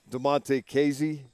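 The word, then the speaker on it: Damontae Kazee: But some of the complementary types, I'm talking about players such as Arthur Millette and DeMonte Casey. Did I say that right? Yes, you did. I usually worry about getting every pronunciation right once they make the team.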